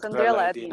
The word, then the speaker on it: Sandrella Edina: Edina, yes, Sandrella Sandrella Edina, Edina.